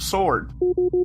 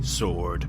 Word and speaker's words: sword: this for some reason this Incarnation has trouble pronouncing the word sword sir say sword sword no sword sword no listen I'm listen